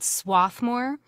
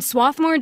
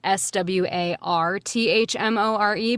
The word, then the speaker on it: Swarthmore: that's right wow and swathmore just so you know is spelled s w a r t h m o r e but when you're from there the r is silent but if you're not